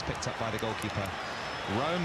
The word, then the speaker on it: Room: Rome again, spelt Room, pronounced Rome, and in his white